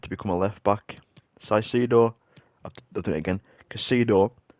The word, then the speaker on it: Caicedo: I finally found out how to say his name. It's Caicedo. I was saying like Caicedo or something.